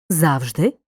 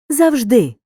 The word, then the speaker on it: завжди: слова в українській мові мають подвійний наголос алфавіт алфавіт завжди завжди мабуть мабуть в українській